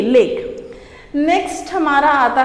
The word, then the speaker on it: lek: Pronunciation आप बहुत अच्छे से ध्यान करेंगे, LEK, लेक।